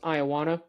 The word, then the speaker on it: Iowana: I'm not even going to try to pronounce his first name, but I know his last name's pronounced Iowana.